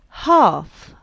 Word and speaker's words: half: l castle silent t half silent l and walk silent l